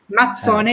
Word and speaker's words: Mazzone: You know, when you say pizza, it's a double Z, pizza, which makes a T sound. So Mazzone is just like pizza, the double Z makes a T sound.